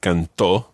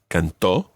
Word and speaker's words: cantó: the whole business of cantó and canté in the preterite tense? You've got to put the stress on the last syllable so that they're different from the present tense.